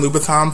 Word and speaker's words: Louboutin: He was talking about how, women have the Gucci bags, the Christian Louboutin pumps, get into how I said it, because that's the correct way to say it, another blog post.